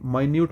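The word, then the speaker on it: minute: कर रहे हैं हम स्पेलिंग दोनों की सेम होती है इसको मिनट पढ़ते हैं। माइन्यूट आप कह रहे हैं तो माइन्यूट मतलब छोटा हो जाता है। बोलते थोड़ा अलग है।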